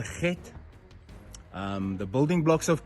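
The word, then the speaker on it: חית: It's pronounced g get get.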